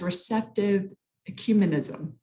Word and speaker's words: receptive ecumenism: And you bring up the question about what is known as receptive ecumenism.